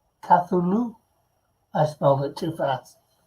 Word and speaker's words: Cthulhu: Oh Oh laughs Allah I mean most people pronounce it tah through loo Cthulhu I smell it too